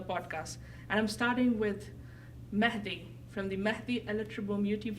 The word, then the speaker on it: Mehdi: it's like if I I noticed that for English speaking people it's very hard to pronounce that H part sometimes I say it's